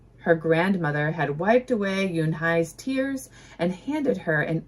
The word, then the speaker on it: Unhei: It's pronounced Yunhai.